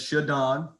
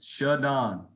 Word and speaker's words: ShaDon: Pronounce my name as ShaDon. All right, it's a capital D. It's not hyphenated. So you guys, it's ShaDon.